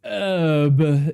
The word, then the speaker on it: herb: You know, if it's herb. Jeez, the Brits don't know English. Herb. I'm going to put some herbs on my salads. Pizza. Herb. It starts with a H.